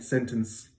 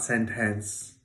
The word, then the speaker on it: sentence: half of that word we hear something like this right sentence sentence in any case it's not a it's not sent hence right so the second syllable in that word is reduced okay so that's where